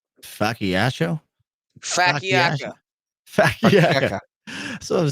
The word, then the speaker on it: focaccia: Chops, pronounce fucking this. That's the bread I'm talking about, but like Facciaccio? Facciacca.